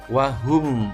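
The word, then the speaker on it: وهم: jelas contoh wahum Alla tidak boleh membacanya uang hukum Allah salah yang betul wahum Allah cukup mingkem nya Hai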